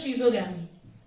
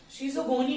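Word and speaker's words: schizogony: Asexual का दूसरा नाम होता है शीजोगैमी। स्पेलिंग चेक कर लो जरा, हाँ बिल्कुल सही है, शीजोगैमी। शीजोगोनी बोलते हैं, गैमी नहीं बोलते, शीजोगोनी बोलते हैं, ठीक है।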